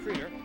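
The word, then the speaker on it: Krider: Troy Creeder is the shortstop, spelled K-R-I-D-E-R, but pronounced Creeder.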